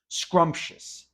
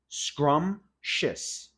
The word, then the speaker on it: scrumptious: Scrumptious. Scrumptious. Scrumptious. Forget about the P.